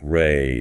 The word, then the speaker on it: Rei: After Jyn, we get to respect Ry, pronounced Ry. Rey.